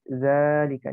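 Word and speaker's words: ذٰلِكَ: tanda baca panjangnya Zar ikan jadi Mama cara bacanya dzari'ah Zara ditemukan Setelah nikah tapi Zalika dibaca panjang lebahnya berikan Zalika udah nikah itu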